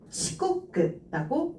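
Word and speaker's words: 遅刻: 그래서 이거 치코크라고 읽어주시면 되겠습니다. 자, 지금 세계일각자 음이 꼬끄였는데요.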